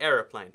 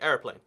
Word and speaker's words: aeroplane: However, here it's the aeroplane. And you barely notice that like syllable. It sometimes is just like skipped over, like aeroplane.